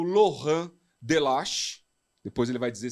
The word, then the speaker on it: Laurent: como fala seu nome com a pronúncia francesa na França fala ser loran loran de de muito